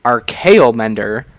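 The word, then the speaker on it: Archaeomender: It's RKO Mender, and I'm glad I pronounced that correct because I almost called it Archaeomancer, which is what it's kind of riffing off of.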